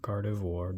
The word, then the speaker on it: Gardevoir: Ooh, Radiant Gardevoir. Or Gardevoir, depending on how you say it.